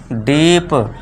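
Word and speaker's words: deep: डीप ड के लिए डी के लिए कर दिया ड।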